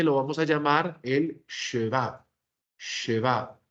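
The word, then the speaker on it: שְׁוָא: vamos a llamar el sheva. Sheva. Imagínense decir la expresión él se va, pero vamos a poner la shin. Sheva.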